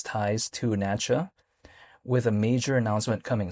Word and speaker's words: NACHA: Well, it's because if we take a look at Natcha, which is spelled NACHA, that is what governs the ACH network, right?